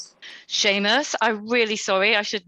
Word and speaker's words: Seamus: The correct pronunciation is Seamus. Seamus, I'm really sorry, I should know.